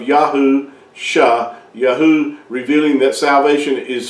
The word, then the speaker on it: Yahusha: two together you come you come with the uh pronunciation of yahu sha yaho revealing that salvation